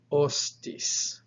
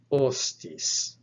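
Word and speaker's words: ὅστις: iota and then terminal sigma so this is pronounced ostis ostis and over that initial omicron since this word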